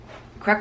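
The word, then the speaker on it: craic: does that mean oh good crack but it's CR how they spell it like c-r-a-i-c good crack which means you like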